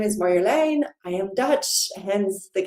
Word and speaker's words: Marjolein: case you don't know me, my name is Marjolein. I am Dutch, hence the kind of that weird name if you're not Dutch. You can also pronounce it Marjolaine in French or Marjolaine in English, but also.